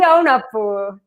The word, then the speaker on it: Aunapu: Yeah, Aunapu. That is my name. I know. I added too much of a poo on the end.